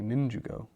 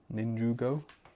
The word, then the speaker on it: Ninjago: The A in Ninjago sounds like a U. Okay, Ninjugo. Ninjugo?